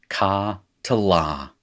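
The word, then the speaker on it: קָטְלָה: little metheg there, and that is pronounced ka to la.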